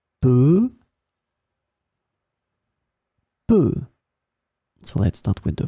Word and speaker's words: peu: In this lesson, we will discover together two words that are written differently but pronounced the same way. Peut.